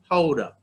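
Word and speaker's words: Gouda: vegan cheese around the world all right tofu houda now it is spelled g-o-u-d-a but pronounced haura so if you switch up any of these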